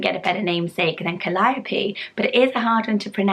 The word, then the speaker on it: Calliope: many lists, but I wasn't sure how to pronounce it, I must be honest, and it is Calliope.